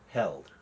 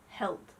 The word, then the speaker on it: Heald: do you spell your how do you say your last name held held held right yes Flair is a master